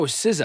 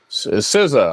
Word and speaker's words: SZA: Oh, SZA, I think.